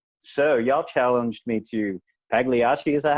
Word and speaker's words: Pagliacci: So y'all challenged me to Pagliacci. Is that how you pronounce it? Pagliacci.